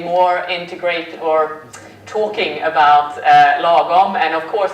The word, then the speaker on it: lagom: also a question mark behind it the word logon for you is it all fries no it's not this is normal as you can see it's pronounced logon and there is really no good translation on